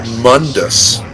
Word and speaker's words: Mundus: It's dark lord Mundus. That's how his name should be pronounced.